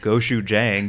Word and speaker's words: gochujang: I mean, it's going to be gochujang, right? I'm so proud of you right now. You said it right.